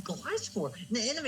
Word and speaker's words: Gliscor: Oh, You how did you not- pronounce it? I don't even know Gliscor. It's Gliscor.